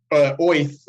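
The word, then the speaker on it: Oerth: I think it's Yeah, actually pronounced Oath, like a like a Jewish New guy Yorker.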